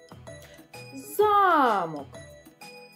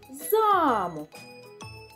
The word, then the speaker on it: замок: Замок означає будівлю. Замок – предмет, а замок – будівля. Отже, робимо висновок, що наголос – це дуже важливо. Від того, де стоїть наголос, залежить і значення слова.